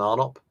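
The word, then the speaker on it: Arnopp: My Twitter handle is just at Jason Arnott, 2 P's. Although the first P is silent, don't go pronouncing that P.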